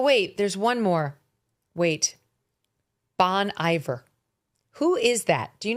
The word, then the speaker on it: Bon Iver: Bon Iver. You see, it's classier if you pronounce it the French way.